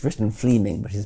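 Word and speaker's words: Fleeming: true so Fleming Jenkin was simply it's written Fleming but is pronounced Fleming um Fleming Jenkin was simply saying manifest facts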